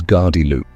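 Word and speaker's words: gardyloo: The warning shout is gardy loo. It comes from the Norman French gardez l'eau.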